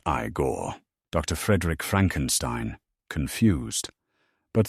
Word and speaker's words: Igor: Noticing Igor's eyes. You must be Igore. Igor. No, it's pronounced Igore.